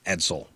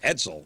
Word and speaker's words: Edsel: So just so you know, his name is pronounced as it's written, Edsel.